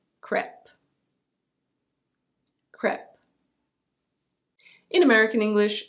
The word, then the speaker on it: crêpe: So yes, this is a French word, and in French it's pronounced crêpe. Crêpe. But we don't say it that way in English.